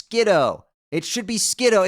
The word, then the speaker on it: Skiddo: That'd be like almost as dumb as if like the Pokemon whose name is a pun on Skid in Kiddo wasn't pronounced Skiddo, but it was instead pronounced Skidoo. I mean, that would just be so fucking stupid.